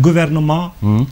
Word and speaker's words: gouvernement: when they write gouvernement, you will see a T right there, but you don't pronounce it. Right. Why? Because it's the origin. That's why when they need an adjective, what do? They add an L to it. You say gouvernemental. Tal. That makes sense. Otherwise the T is silent.